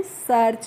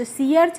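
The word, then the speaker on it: search: तो इसको हम पढ़ते हैं सर्च। सीआर्च नहीं पढ़ते हैं।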